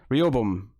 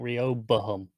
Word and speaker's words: Rehoboam: is three of them REO boom real boom it's four syllables I think REO boom Rehoboam for Sheryl was awkward